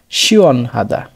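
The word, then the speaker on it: 시원하다: উ এবং অ মিলে উচ্চারণ হচ্ছে অর মতো শিয়ন, শিয়ন। এর সাথে হিউত, তার সাথে আ, হা, দ্বিগতের সাথে আ, দা, শিয়ন হাদা, শিয়ন হাদা।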